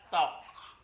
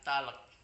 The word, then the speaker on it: talk: bahasa Inggris ada k ada huruf yang tidak perlu dibaca contohnya t alk bacanya tok tok bukan talek kalau talek kan itu